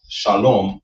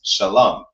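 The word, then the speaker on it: שלום: of that bastardization, we find out how to pronounce every single character, how to read the words. That's how you know it's not shalom or shalom, but it's shalam.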